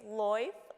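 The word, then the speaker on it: Lyfe: It's not life, it's loif with a Y. Okay, please tell us. L-Y-F-E, right?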